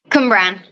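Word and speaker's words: Cwmbran: How do you say the place that you're from? Cumbran. Cumbran? Okay, that's what I thought, but the W was fucking me up. I wasn't sure. The W is like a U.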